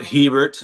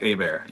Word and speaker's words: Hebert: it's spelled Hebert, but it's like Hebert. So if you talk about like French Canadian, it would be Hubert.